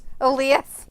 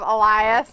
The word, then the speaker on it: Elias: all three competitors boo AI says his name weird yeah Alias instead of Elias he said it like